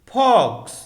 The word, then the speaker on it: forks: फॉक्स, इसकी spelling है FORKS। इसकी स्पेलिंग में R साइलेंट है।